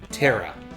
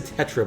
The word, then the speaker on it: Terra: Terra. Terra, okay, I think I said Tetra before, but definitely was not right.